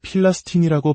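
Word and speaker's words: فلسطين: 아랍어버로 블레셋을 필라스틴이라고 발음하는데 이것이 바로 오늘날 팔레스타인을 칭하는 이름입니다.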